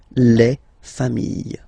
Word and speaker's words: familles: Famille, singular form, famille, plural form, same pronunciation, s not pronounced.